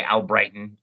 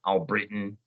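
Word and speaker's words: Albritton: But my last name, they always say Al Brighton. Al Britain.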